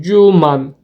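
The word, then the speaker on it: 十万: 10.000'in 10 katı yani 10 tane 10.000 cuman şeklinde telaffuz ediyoruz Şimdi iki basamaklı sayılardan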